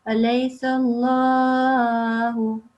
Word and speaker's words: أليس الله: Well, this is also thickly pronounced, but also elongated because of the vertical fatha. So make sure that you prolong it for 2 seconds. Alaysa Allahu.